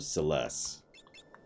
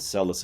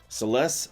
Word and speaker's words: Celes: God, now I've said Celis in my head so many times, it's losing all meaning. Celeste? Sorry, I'm saying it wrong now. God dang it. Celeste, that's how they say it.